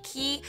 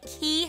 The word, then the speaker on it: Quay: from the Australian company key it's spelled quu a y like Quay but I'm pretty sure it's pronounced like key I've mentioned this in